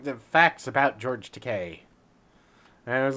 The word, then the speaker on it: Takei: It was like the facts about George Takei. And it was like, when people tell me or pronounce my name Takei, I tell them it's Takai. When they pronounce it Takai, I tell them it's Takei.